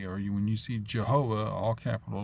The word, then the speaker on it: Jehovah: or when you see Jehovah all capital letters with a J that's the way it's said with a soft G not with a Y sound and the V isn't replaced with a W because that's Yiddish it's